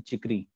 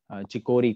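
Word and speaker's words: chicory: और एक और चाय है जिसको बोलते हैं चिकरी, चिकोरी, कुछ चिकोरी कहते हैं, but pronunciation is चिकरी, बट चिकोरी बोलिए, चिकरी बोलिए।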